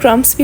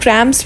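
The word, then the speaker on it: cramps: कुछ लोग क्रम्स भी बोलते हैं, कुछ लोग क्रैं्प्स भी बोलते हैं। ठीक है? तो आप इसको अपने हिसाब से जिस भी इंग्लिश में चाहे उसको अपने हिसाब से प्रोनाउंस कर सकते हैं।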